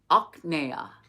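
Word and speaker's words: ajñāna: That's where we get the word knowledge. Aknea. I know it sounds weird, but it's true. Aknea.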